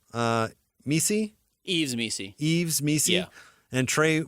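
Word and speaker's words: Yves Missi: Yves Messi.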